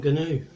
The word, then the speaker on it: gnu: nat how i mvu for pronouncing the g in gnu replied the gnu if only you canoe for mine is a silent g too well said than